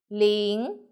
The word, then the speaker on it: 零: 我们一起读 líng, l, in, in together.